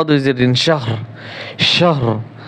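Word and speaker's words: شهر: শিন হা জবর শাহ, রা দুই জের রিন, শাহর, শাহর। রা দুই জের রিন হবে না, শুধু র উচ্চারণ হবে, শাহর।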